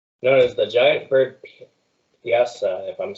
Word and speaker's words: Piasa: One of them's known as the giant bird Piasa, if I'm saying it right. Yes. Yes. Would you repeat that one more time? Giant Myasa? bird Piasa.